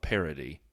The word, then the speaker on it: parity: And if that is supposed to provide some level of parity, and I mean with a T, not a D, in case Sean Kelly's listening again, that's just the way I pronounce the word.